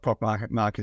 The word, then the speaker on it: Proc Market: Is that the right pronunciation? Yeah, Proc Market.